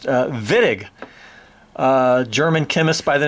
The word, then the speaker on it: Wittig: spelled with a WWI T TIG looks like Witek but it's pronounced villag german chemist by the name of george villag